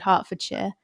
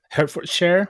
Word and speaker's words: Hertfordshire: And I'm glad you said Hertfordshire. When I moved here, it took me a week or so to figure out that that was the pronunciation.